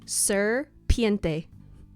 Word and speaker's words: Sir Piente: Well, my companion's name is Sir Piente. Will you spell that for the audience? Yes. S I R P I E N T E.